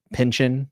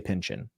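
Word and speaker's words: Pynchon: never know how to say his name Thomas Pinchin we'll say Pinchin we'll go with that um I was really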